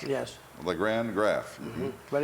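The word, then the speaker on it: Lagrand: LeGrand Graff. But it's spelled, they spell it around here L-A-G-R-A-N-D-E, but on my birth certificate it's L-A-G-R-A-N-D.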